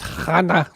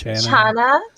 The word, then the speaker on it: chana: Chloe in Scotland says your spiced chana looks incredible. How do you pronounce it? It's chana.